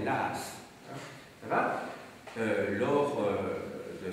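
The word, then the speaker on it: Law: John Lass, hein, L-A-W, je vous ai déjà dit que le L-A-W, comme ça en écossais, ça ne se prononce pas Low, on dit souvent, mais Lass.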